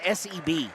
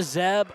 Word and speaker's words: Seb: It's S-E-B. I'm used to Zeb or Sep, but Seb.